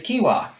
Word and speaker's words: quinoa: first you'll never get it wrong again it's kiwa quinoa i knew that i knew it i've